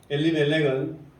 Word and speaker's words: 엘리멜렉: 엘리멜렉은 원래 이름이요. 그 발음 그대로 하면 엘리멜렉 그렇게 있어요. 멜레크인데 멜레크라는 이름이 뜻은 사실은 그 왕이라는 뜻입니다.